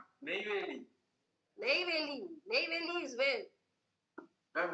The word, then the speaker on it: Neyveli: How do I pronounce the name? Neyveli.